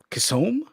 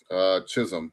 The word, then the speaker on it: Chisholm: It seems to me like the H is silent in this. Kissom? Jazz Kissom? Chisholm, but Chisholm.